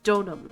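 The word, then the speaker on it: Deauxnim: How do you pronounce it again? Donam. Donam. Elise. Donam.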